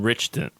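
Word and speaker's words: Ritchson: And he's Alan Richson.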